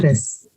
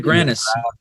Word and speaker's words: gravis: gravis. Wait, Eric. I heard it. Myasthenia gravis. Yeah, but I still don't know how to say it. My stevia granis. gravis. It's a V.